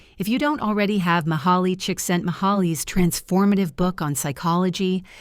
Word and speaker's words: Mihaly: About Mihaly Csikszentmihalyi. Mihaly Csikszentmihalyi, pronounced Miha Csikszentmihalyi, was a leading professor of